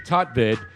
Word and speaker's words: Tutvid: Tutvid. Is it Tutvid? It's spelled T-U-T, Tutvid.